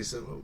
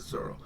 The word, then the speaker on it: Zoro: Yeah, they say Zolo in the book, but I know further in around like where I'm at right now, they always just call him Zoro, and it's supposed to be Zoro.